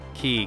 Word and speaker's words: ki: though just remember that like Ki Kai um Chi it depends on who you are and how you pronounce it I know in Dragon Ball Z at least in the dub it's key I watched the